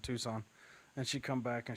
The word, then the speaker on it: Tucson: Wait, it's pronounced Tucson. Yeah, it's not Tuxen.